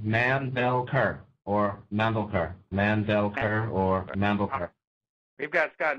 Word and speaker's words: Mandelker: last name Scott uh you have to pronounce all three syllables um man Bell CER or Mander mandelker or Mander we've got